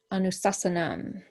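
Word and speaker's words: anuśāsanam: top of it, so it's almost got like an A in front of it.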